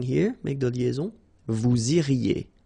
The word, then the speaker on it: iriez: Vous iriez. remember, when you get this EZ at the end, you get the sound E, okay?